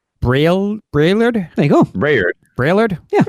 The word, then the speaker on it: Braillard: Just say it as it's spelled. Braillard?